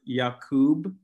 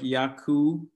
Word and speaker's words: Jacoub: And it's like the pronunciation that I have is Jacoub. But a lot of people forget the B, so it's like Yaku.